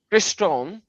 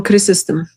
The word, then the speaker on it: Chrysostom: Now, the church father, John Chrysostom, I cannot pronounce the names because of my limited pronunciation.